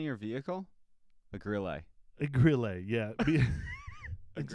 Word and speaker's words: Grille: my braid hurts so it is grill with an e gorilla The Grille it's a Grille it's French it's French it's French